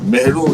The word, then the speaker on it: Mehro: Mehro is, Mara is a mispronunciation of Mehro.